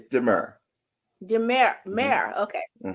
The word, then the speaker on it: D'Mur: So pronounce it one more time. Say it one So more. Demir. it's Demur. Demir. Hmm. Mer. Okay. Demur.